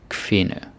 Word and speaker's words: kvinde: The D is silent. A lot of silent Ds. That's just how we are.